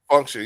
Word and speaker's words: FXNCTION: Everybody Is that Fection? How you say his name again? My bad. FXNCTION. Function, yeah. Function.